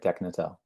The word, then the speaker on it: Deknatel: No, that's right, Deknatel. Okay, Frederick Deknatel, whose name I embarrassingly mispronounced on an earlier podcast, Sam Heller, and Rohan Advani.